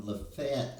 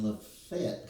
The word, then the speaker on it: Lafayette: And um I am from Lefett, Alabama, which is spelled Lafayette, but everybody in Lefet calls it Lefet.